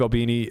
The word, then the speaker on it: Albini: Al yeah thank you I didn't want to mispronounce uh Steve Albini uh you may know him as one of